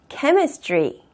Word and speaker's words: chemistry: CH가 앞에 있어도 츠로 발음되는 게 아니라 크로 발음이 돼서 chemistry. chemistry, chemistry로 발음이 됩니다.